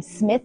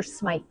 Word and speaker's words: Smythe: How do you say the name? Smith or Smythe? Smythe. Smythe.